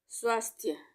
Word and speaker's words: स्वास्थ्य: स्वास्थ्य, स्वास्थ्य, स्वास्थ्य, स्वास्थ्य, दोनों में आधे स का यूज होगा, स्वास्थ्य, क्योंकि उच्चारण आधा ही हो रहा है स का।